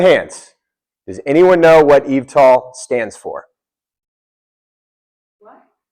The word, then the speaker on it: eVTOL: This title is it's hard to pronounce, but I think he helped me out here. Eie. Eve tall. Did I nailed it? Perfect. Thank you. Eve tall.